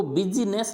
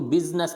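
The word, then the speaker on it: business: Silent नहीं होता है, लेकिन एक अपवाद लिखा है मैंने, यानी इसको बिजनेस नहीं बोलेंगे, इसको बिजनेस बोलेंगे, बिजनेस।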